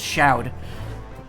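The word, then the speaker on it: Chaud: Which, by the way, it's not Shod, it's Shoud. I only learned how to pronounce that right before I streamed Battle Network 6.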